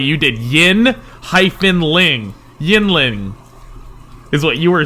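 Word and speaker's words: Yuengling: our feeds uh but for our listeners it's pronounced yingling hershey porter not yang ling i don't want to be the guy that corrects i'm just going to go on record yingling yingling the oldest brewery in america you called it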